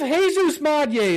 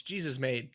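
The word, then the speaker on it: Jesús Made: You said his name wrong. It's Jesus Made. Come on. Jesus Made. I don't actually know if that's correct saying, but no, it is Jesus Madye.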